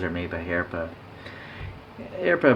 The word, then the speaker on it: Herpa: made by here but airplane by the way h-e-r-p-a that's how you pronounce that and uh they're a